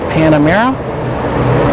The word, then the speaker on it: Panamera: The Porsche Panamera, I think that's how you pronounce it, right?